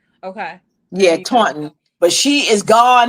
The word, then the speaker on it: Taunton: Yeah, Taunton.